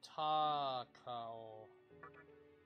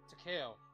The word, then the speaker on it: Takao: later right yeah yuko taco i'm not t-a-k-a-o taco i believe that it's pronounced like to cow to ko because we